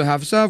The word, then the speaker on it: Hafsa: Quant au nom de Hafsa, vous l'avez prononcé correctement.